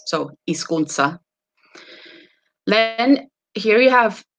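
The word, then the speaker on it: hizkuntza: i say it again the h is not pronounced and uh this is z is like a sharp s so isconsa then here you have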